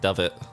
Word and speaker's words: duvet: into the fluffy duvet it's pronounced dove it dove it yeah all right the fluffy dove it mm-hmm the early evening